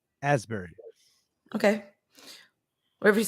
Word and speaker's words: Asbury Park: Ashbury Park. Asbury.